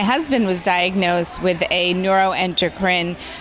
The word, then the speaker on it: neuroendocrine: gala that's right and that's how you should pronounce it neuroendocrine right no and okay ring yes and I'm